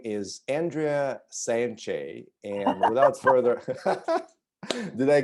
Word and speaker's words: Sanche: of your last name how do you pronounce your last name i say sanchez sanchez right okay i